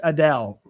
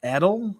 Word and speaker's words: Edel: Edel pronounced Adele. Adele. Really? It's not Edel, it's Adele.